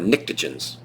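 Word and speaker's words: pnictogens: the nitrogen group or nicrogens starts with P the P is silent the nicrogens um nitrogen, phosphorus, arsenic, anammonium, and bismouth.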